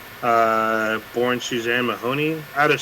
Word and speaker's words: Somers: We're gonna start out with Suzanne Somers, or Somers. I believe it's pronounced Somers.